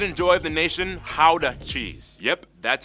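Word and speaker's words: Gouda: Pride and joy of the nation, Howda cheese. Yep, that's how you pronounce it, guys. Oh, and keep in mind, what do you say? The nation, Howda cheese.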